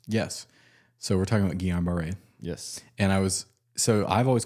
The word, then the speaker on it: Guillain-Barré: I also know that it has very varied pronunciations. Yes. So we're talking about Guillain-Barré.